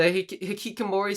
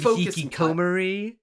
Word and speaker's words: hikikomori: The hikikomori stuff could have been handled better too. You could have placed more emphasis on that. Maybe have it like Crunchy. Don't you mean hikikomori?